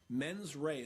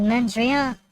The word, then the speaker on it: mens rea: different levels of homicide based on what your mens rea, a mental state, is. And What about the mens rea?